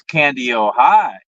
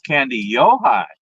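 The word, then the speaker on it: Kandiyohi: time they said no it's not candy it's candy oh high oh then I heard somebody else somebody else said no it's candy Yohi okay that sounds Japanese almost yeah well in again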